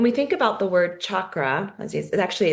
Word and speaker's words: chakra: And when we think about the word chakra as actually it's like sound it's pronounced in Sanskrit like you're saying chocolate um chakra and you